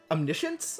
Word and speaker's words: omniscience: look at this guy omniscience I guess you don't actually pronounce the S like an S because English um not root snare